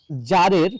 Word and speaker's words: tsar: এক সময় কোন এক জারের, TSAR জার বললাম, জারের মনে হলো, এখানে অকার্ড